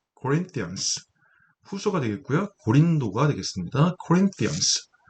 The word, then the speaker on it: Corinthians: Corinthians, th 사운드는 번데기 발음이라고 하죠.